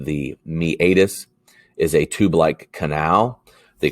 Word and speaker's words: meatus: your patellar tendon the meatus which you will pronounce meatus that is not correct it is pronounced the meatus is a tube-like canal the classic example that